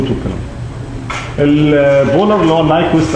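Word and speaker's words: Nyquist: البولر اللي هو النايكوست او النيكوست زي ما الناس بتنطقه يعني ده بيعبر عن الجزء الايماجينري والريل بتاع الجي او جي اوميجا ان بولر فورم يعني انجل وماجنتيود.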